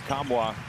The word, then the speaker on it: Kamwa: Olivier Kamwa. That's how he pronounces it, and that's how he does it.